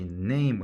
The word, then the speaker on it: name: N 무슨 발음? 니은. A 무슨 발음? A, 에, 이. 그래서 네이. 그러면 네이가 되죠. NA까지가 네이. M 무슨 발음? 미음. E는 장식이야. 장식이니까 발음해야 하네? 안 해. 그래서 합치면 뭐예요? name 되는 거죠. name 어떻게 적어?